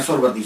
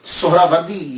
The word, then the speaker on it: سہروردی: بڑی توجہ دینی ہے۔ ہم لوگ اکثر بول دیتے ہیں سہروردی، سہروردی، یہ اکثر ہم بولتے رہتے ہیں۔ میں غلط نہیں کہتا، لیکن ذہن میں یہ تو ہونا چاہیے نا کہ اصل پروننسیشن، اصل تلفظ کیا ہے۔ اصل میں یہ سہراوردی یا تو نسبتی ہے،